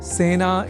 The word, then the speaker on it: सेना: एक शब्द है सेना जिसका प्रयोग सेना इस रूप में ही करना चाहिए क्योंकि सेना में स इस अक्षर के बाद ए इस अक्षर का प्रयोग हुआ है। अतः सेना इस शब्द के उच्चारण में ए इस स्वर वर्ण या अक्षर का ही प्रयोग किया जाना चाहिए ना कि ऐ का।